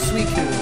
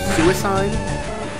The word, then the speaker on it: Suicune: And they say that the proper pronunciation is actually Suicune. Which I don't believe, because when I watched the Entei movie back when I was just a wee little lad, it was pronounced Suicune, because it was Entei, Raikou, and Suicune.